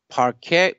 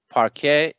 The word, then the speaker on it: parquet: does okay there is one specific question regarding parquet parque i i i might be i might be mis mispronouncing that name park a if i convert a file to parque using